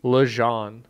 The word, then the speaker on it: Legendre: Lejean.